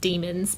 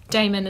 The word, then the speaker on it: daemon: So like daemon instead of demon, and althiometer instead of alethiometer, or whatever it's meant to be.